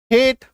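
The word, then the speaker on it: hate: अगर किसी शब्द के लास्ट में इ हो तो इ का उच्चारण नहीं करते हैं। ठीक है? इसी पर आधारित मैं आपको एक एग्जांपल दिखाता हूं। जैसे कि एच ए टी ई एच ए टी है ना क्या उच्चारण हम लोग लिखते हैं इसका हेट है ना हेट का मतलब होता है नफरत करना ठीक है अब देखो यहां पे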